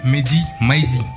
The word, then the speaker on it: Mehdi Maizi: Cette semaine, on reçoit monsieur Mehdi Maizi, comme ça se prononce.